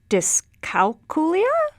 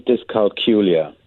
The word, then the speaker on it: dyscalculia: ask your professional opinion is it discalculia discalculia what do you say i say developmental dyscalculia but you know people vary in the way they pronounce it yeah daniel ansari is